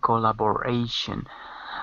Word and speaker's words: collaboration: And anytime you have a shun, the stress will always be the syllable before. In all English words, the stress is always before the shun.